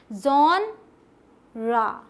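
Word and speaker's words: genre: सही क्या है पता है, ये भी बहुत ही डिफरेंट साउंड है, जैसा दिखता है उससे बिल्कुल अलग। देखिएगा, जॉनरा, जॉनरा। ठीक है, ये आपने समझ लिया।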